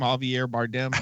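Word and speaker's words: Javier Bardem: heav arbm how do you say that name Javier bardam there you go good job you actually just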